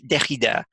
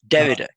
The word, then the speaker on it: Derrida: on the fact that in English it's not Derrida, it's Derrida. And that each language has its own pronunciation.